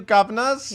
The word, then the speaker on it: Guvnors: He won a Tony Award for One Man, Two Governors. You have to say it like that.